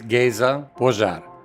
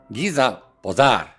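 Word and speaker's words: Géza Pozsár: My name is Gaza Par. That's the Hungarian pronunciation. In English it's like Giza Par.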